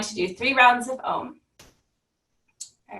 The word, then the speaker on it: Om: a very simple sound think of it spelled AUM so your mouth will open wide ah and then kara through the you and then that mm sound at the end okay so we're going